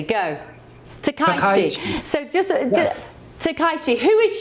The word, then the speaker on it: Takaichi: Let me write it down phonetically. Go. Takaichi.